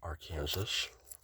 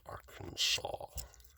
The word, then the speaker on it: Arkansas: Okay, so Arkansas is around here, which looks like it's pronounced Arkansas, but because of Native Americans, it's actually pronounced Arkansas or something.